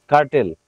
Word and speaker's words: curtail: আমি উচ্চারণটা বলে দিচ্ছি। সি ইউ আর টি এ আই এল কার্টেল।